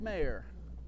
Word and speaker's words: Mayer: try to say Mayer, it is spelled and pronounced just like, remember Jeffrey Mayer, 1996, Derek Jeter? Keep wanting to say Jeffrey. So sorry, Luke. My apologies to you for that. Luke Mayer in right field for the Southeastern Fire.